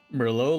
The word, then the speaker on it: Merlot: Merlot, like the wine?